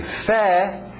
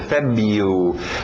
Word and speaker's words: February: Agora esse mesmo final, January, February, sem esse R, como se o R não estivesse aí, ok? A pronúncia February, February, January, February, March,